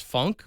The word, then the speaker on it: Funck: And then my favorite one is Linus Funk, but it's spelled Funck.